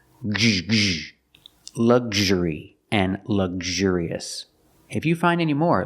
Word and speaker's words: luxurious: Let's talk about the sound. Gzh. You're using a hard G sound and the Zh sound, like in measure and treasure, vision and usual.